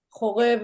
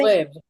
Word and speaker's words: Horeb: Horeb is another word for Mount Sinai. So that What was is it? How do you say? Horeb.